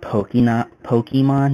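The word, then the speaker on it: Pokémon: And just for the record, it's pronounced Pokemon, not Pokemon.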